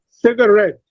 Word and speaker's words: cigarette: In cigarette, C has secondary stress and ret has primary stress.